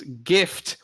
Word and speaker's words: GIF: Jeff is J but my reasoning is still gift without a T therefore it's gif all right to me